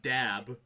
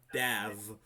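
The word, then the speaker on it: Davth: how is it spelled it's d a v t h not dab daav DAV like David not dab them up I I constantly hear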